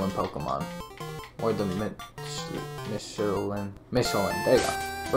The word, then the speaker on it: Michelin: Michelin. There you go. Right way. I learned how to pronounce today.